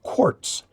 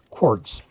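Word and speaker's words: Quarz: Now, normally in German, Q-U-A-R-Z would be pronounced quartz, because Z is pronounced as T, like that, a T followed by the Z, quartz.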